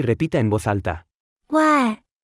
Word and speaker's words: 外: 外、外、外、外、外、外、外。 Se pronuncia con el cuarto tono. Aprendamos la palabra extranjero, escuche y repita en voz alta. 外、外、国、国、外